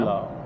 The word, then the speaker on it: pulao: pulao. Pulao. Pulao. How do you spell it?